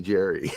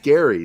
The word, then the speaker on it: Gerry: jericho because i can't stand it when people call me jerry because it's not jerry because i was raised being called gary so that's it so